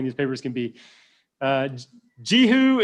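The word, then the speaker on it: Jehu: papers can be uh jihu is the preferred pronunciation here it's probably not great but it's probably the one that works best for us so jihu son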